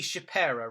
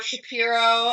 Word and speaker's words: Shapera: Nobody ever pronounces it right the first time around, so really? Well done. Well done. How do they normally do that? I get Shapera or Shapiro a lot, and Shapiro and Shapera are from the same